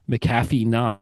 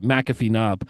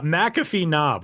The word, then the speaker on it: McAfee Knob: Appalachin Trails in Virginia, it's Macaffy Knob. I think that's how you pronounce it. It's got I I would imagine McAfee. Yeah, that sounds more right. McAfee Knob.